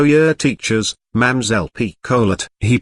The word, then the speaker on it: Picolet: "This here lady is one o' yer teachers, Mamselle Picolet." He pronounced the little lady's name quite as outlandishly as he did Mademoiselle. It sounded like pickle yet on his tongue.